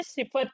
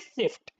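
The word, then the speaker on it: Sift: confident confidently राजा सर को बोला सिफ्ट नहीं है सिफत है राजा सर गोज टू बोरिया टेल्स हिम कि सिफ्ट नहीं है सिफत है बोरिया इन a live discussion asks sir हाउ डू you pronounce your name सिफ्ट और सिफत एंड she says सिफ्ट and that is the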